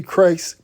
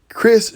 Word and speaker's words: Kryst: former miss usa chelsea christ christ is it chris y'all or christ some people say it was christ it's it pronounces chris to me uh was announced on